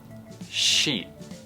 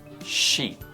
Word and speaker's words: sheet: phân biệt hai âm và y này tập phát âm nào shit shit mi l đấy shit shit sheet mệ căng hơn sheet I need a new sheet of paper shit